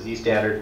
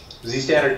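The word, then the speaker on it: Zstandard: ButterFS and SquashFS added support for ZStd, I think I pronounce it Z-standard, but Z-standard compression.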